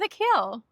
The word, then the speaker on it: Akhil: We are sitting outside in Andorra again with Akhil.